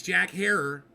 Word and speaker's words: Jack Herer: know how to say the guy's name it's Jack Herer and the reason I know how to say